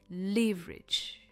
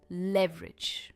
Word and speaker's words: leverage: Moving on to verb number eight, leverage or you can say leverage. Both the pronunciations are correct. I prefer using leverage.